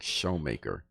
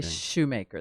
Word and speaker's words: Schomaker: And you said that's how the pronunciation of your name, Schomaker, even though it looks like Showmaker. It's from a family in that region. It's right? an Ohio River Valley family. We say Shoemaker.